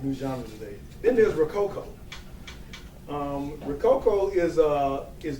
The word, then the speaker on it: Rococoa: like pirates squash buffalos it's based on the word rococo which was a style of architecture that was very popular in france i believe during that time came out to baroque and it's spelled r-o-c-o-c-o but us being who we are we put an a on the end of it so it's rococo you know so uh again